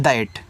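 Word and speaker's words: that: चलिए आगे है टी एच ए टी इसको पढ़ते हैं। दैट तो टी एच से आपका यहां पे हो जाएगा द ए का उच्चारण ऐ की मात्र जिसे आपने यहां पे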